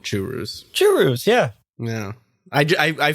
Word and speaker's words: churro: That's the authentic way to say churro is churu. Churu.